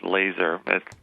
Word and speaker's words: Laaser: of the listeners uh the pronunciation of my name is laser that's not how it looks but that's what my